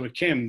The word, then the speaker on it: d'Yquem: in there, was Chateau Akem, the great dessert wine, which is spelt small d apostrophe capital Y-Q-U-E-M, Akem.